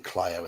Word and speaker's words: Clio: I'm pronouncing it right now, Clio and Saginaw, because one of the adventures in this book, I reviewed it and pronounced both those city names completely wrongly.